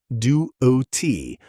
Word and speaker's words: duty: Americans say this duo t with a soft d sound, not duty like you might hear in British English.